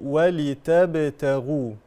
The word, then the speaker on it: ولتبتغوا: لتجري الفلك فيه بامره ولتبتغوا بامره الميم هنا في كلمه بامره اظهار شفوي بامره صله صغرى هذه الهاء تمد بمقدار حركتان بامره ولتبتغوا ولتبتغوا لا ننسى قلقله الباء ولتب ولتب ولتب ولتبتغوا